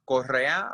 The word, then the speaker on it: Correa: So you can the last name, however you need to pronounce it is fine, but it authentically is pronounced Correa, but you can say Correa.